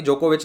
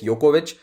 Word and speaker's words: Djokovic: बाय द वे, मेरे मुंह से भी कभी जोकोविच निकल सकता है, करेक्ट प्रोनाउंसिएशन इज योकोविच, लेकिन अब वो आदत